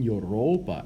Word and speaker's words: Europa: end and again here notice that europa has a long a at the end because it's the object of the preposition n next greece is